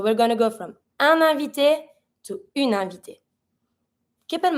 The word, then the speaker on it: invité: Keep in mind, every time you have an I that has an accent at the end of the word, you're going to pronounce it. So in this one, invité finishes with an I that has an accent on it. I'm going to pronounce it. And it starts with a vowel, so I'm going to link it with the consonant that's in the pronoun.